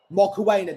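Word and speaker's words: Mokoena: Moena, that's how you pronounce his name to Boho Moa.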